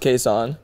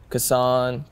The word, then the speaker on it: Kaysan: it so I mean it's obviously pronounced Kon but um people pronounce KAS cassan kaon which it's all good